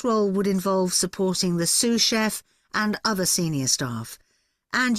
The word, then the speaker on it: sous chef: তো অনেকে সু করতে পারেন, তো উচ্চারণটা কিভাবে করে একটু দেখেন আপনি। Sous chef.